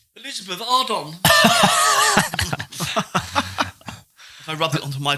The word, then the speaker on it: Elizabeth Arden: And he says you rubbed it on, and he goes, oh, Elizabeth Hardon. He's actually used it. Yeah. That's crazy. Elizabeth Ardon, isn't it? Yeah. Elizabeth Ardon, A-R-D-E-N, but now weird pronounced, isn't it? Ardon.